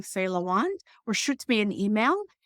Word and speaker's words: Lawand: Instagram, LinkedIn, Facebook, it's just my name, Faye Lawand, or shoot me an email and I'll add you to my list. Amazing. So I'm going to spell it for everyone again. So it's Faye, Lawand, Lawand, correct?